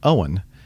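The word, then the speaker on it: Eoin: how to pronounce it EO i n is the Irish way of spelling Owen and uh is the Japanese uh name and he spelled it out phonetically she phonetically so Owen writes it's an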